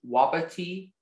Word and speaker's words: wapiti: The word can be pronounced wapiti, wapiti, wapiti, wapiti, wapiti, wapiti.